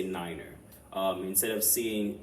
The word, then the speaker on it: Niner: pronounce numbers such as Niner right so instead of saying the number nine you say Niner um instead of seeing